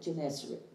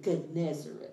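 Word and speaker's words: Gennesaret: lake ganesha i've already i've always called it jennissary but when you listen to that wonder bible sisters sister sue he pronounces it good nezerat so i'm going to go with that verse 2 said and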